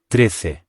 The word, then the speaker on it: trece: 13 in Spanish is, Trece. which is spelled T-R-E-C-E. The first syllable is quite short, and again, remember that C followed by E or I makes a th sound in European Spanish.